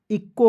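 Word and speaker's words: echo: आपको जो है सी यहां पे सीच का प्रयोग क के रूप में करना है देखिए इ का ई लिख दीजिएगा और सीच का क और ओ से ओ की मात्रा क्या होगा इक्को होगा कि नहीं बिल्कुल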